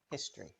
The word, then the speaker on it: history: ready let's look together in history the o is often not pronounced history history history history temperature